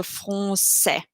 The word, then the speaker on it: français: That's a little, almost like a little S under the C, and that means that we pronounce it soft. So français.